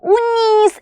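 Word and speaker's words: उन्नीस: നോക്കിക്കേ 19 ന് നമ്മൾ ഉന്നീസ് എന്നാണ് പറയുന്നത് അല്ലേ ഇത് ഉ എന്നാണ് വായിക്കുന്നത് ന പ്ലസ് ന ആണ് എന്ത് ന എന്ന് പറയുന്നത് അല്ലേ ഉന്നീസ് അല്ലേ എന്താ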